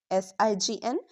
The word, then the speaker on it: sign: Notice we pronounce the n sound not the g.